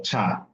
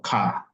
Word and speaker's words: char: have what we call Cha okay we use cha or car depending on how you want to pronounce it now this character data